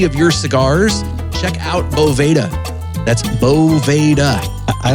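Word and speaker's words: Boveda: I called it a Bovita. My friends, it's Bovda. Bova with an A. They spell it with an E, but it's it's pronounced with an A.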